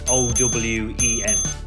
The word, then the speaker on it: Eoin: The best way to pronounce it is if it's spelled O-W-E-N, like Owen, like Michael Owen, the ex-England footballer.